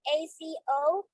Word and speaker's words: Azomite: Right, and that's spelled AZOMITE, azomite.